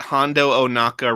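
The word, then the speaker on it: Hondo Ohnaka: before because i realized that hondo onaka rhymes with chewbacca i was like can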